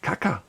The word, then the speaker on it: Kaka: I bought mine from Caca Bag Store, and I remember because the name caca sounds like the word for poop in Spanish.